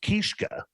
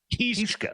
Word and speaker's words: Kiszka: Keska is the three brothers in the band, right? But isn't it like it's pronounced Kiszka. Kiszka. That's right. Yeah, yeah, it is Polish.